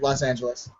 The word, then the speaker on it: Los Angeles: Yeah, Los Angeles. Angeles. Is that how it's pronounced?